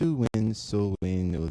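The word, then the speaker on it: Samhain: So Halloween traditions in the West date back thousands of years of festivals of Simon, pronounced Suwin.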